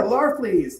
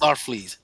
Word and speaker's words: Larfleeze: So this here is Green Lantern LaFreeze. I think I'm pronouncing this correctly. The Christmas special. Ooh, yeah, Larfleeze, yes. Larfleeze.